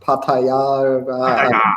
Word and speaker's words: Pattaya: a hospitality tent in Pattaya. Is it Pattaya? Is that how you pronounce it? That's what I say, but I think the locals, it's like Pattaya. Well, in Pattaya, Thailand.